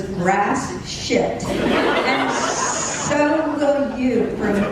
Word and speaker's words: Gratiot: It's spelled Gratiot. Gratiot. When I hear it on the radio or the TV, my head would whip around because all I ever heard was grass shit.